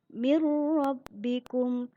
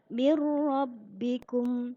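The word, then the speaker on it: من ربكم: bilagunnah masih ingat ya Apabila ada nun sukun atau tanwin bertemu dengan huruf lam dan ro ya cara membacanya tanpa demung dalam contoh misalnya mirrobbikum lunya masuk ke huruf ro tetapi tanpa dengung hanya masuk saja kita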